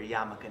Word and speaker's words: yarmulke: wearing my business lawyer yarmulke now. You know, Woo. See the shift? Looks the same. What is it called for people who don't know? Oh, this is called a yarmulke. Yarmulke. It's spelled Y-A-R-M-U-L-K-E.